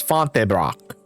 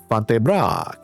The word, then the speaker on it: Fontainebleau: Fontebrock. I did like a weird German pronunciation there. Fontainebleau. That's better.